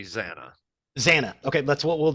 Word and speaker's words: Zannah: pronunciation are we gonna go with I say Zanna Zanna okay that's what we'll do all right it's it's pronounced Zanna just adding in George Lucas been broke down